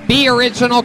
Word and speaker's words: BOriginal: Be Original Comedy, but it's just the letter. So if you spell it out, it's Boriginal Comedy. Not Aboriginal. No. It's actually at Boriginal Comedy. Yeah. Be Original, the letter B.